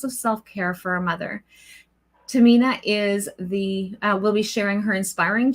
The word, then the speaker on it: Tehmina: But it is actually Tehmina. It's like T pronounced in a way that it's Tehmina with a little bit sound of her in it.